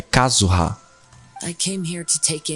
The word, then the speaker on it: Kazuha: Eu tenho que pôr a pronúncia no lugar certo, não é Kazuha. É Kazuha.